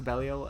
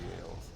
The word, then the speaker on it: Belial: is way more sauceless than Belial's. And also just the sound effects and the like visual effects of Belial's or Belial's. I've switched between them. The game pronounces it Belial.